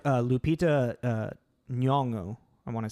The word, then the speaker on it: Nyong'o: So I mean, there's definitely like Lupita Nyong'o. I want to say I don't know how to really pronounce her last name. Nyong'o.